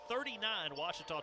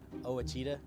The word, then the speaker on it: Ouachita: it as well 42-39 washita trails back in a moment this is the ouachita sports digital network i've heard people say oh a cheetah oh wichita oh a